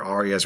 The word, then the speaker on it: Aughreyah: That's spelled Aughreyah. I did a double take reading that word too, but apparently people are supposed to read it as Arya.